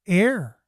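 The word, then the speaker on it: Ayr: show coming up oh it's pronounced air oh interesting air had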